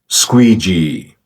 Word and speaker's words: squeegee: इस वर्ड की सही प्रोनाउंसिएशन है स्क्वीजी, स्क्वीजी, स्क्वीजी, स्क्वीजी, स्क्वीजी, स्क्वीजी, squeegee, squeegee, squeegee.